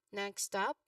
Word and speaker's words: next stop: So when pronouncing this term next stop, you give equal stress to both words.